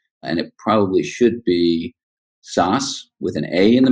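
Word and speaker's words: Szösz: sure if I can the way my family pronounces it is SAS but being in Eastern Europe the way it probably should be pronounced is but since there's nobody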